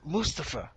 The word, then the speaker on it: Mustafa: no yo bigot it's fine it's Mustafa it's Mustafa that's how you say it yeah so he's